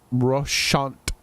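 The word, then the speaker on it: Roussainte: Russant is how they pronounce all those damn letters. There's no need to spell it that way.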